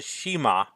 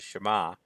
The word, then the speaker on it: Shema: immediately run to this he called it the Shema which by the way is terrible pronunciation it's the Shema the Steve Rand also